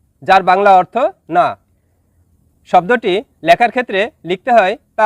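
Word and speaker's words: nak: শব্দটি লেখার ক্ষেত্রে লিখতে হয় নাক, তবে এর সঠিক উচ্চারণ হবে না।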